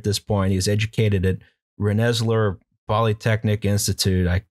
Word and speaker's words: Rensselaer: Rensselaer. God, I don't know how to pronounce. You went to a school that had a dorm named after that family. That's true. Yeah. Well, rhymes with engineer.